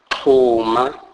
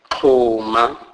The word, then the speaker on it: xhuma: XH is pronounced as K. K. This is the aspirated form of the X-click sound, e.g. xhuma, xhuma, which means join together.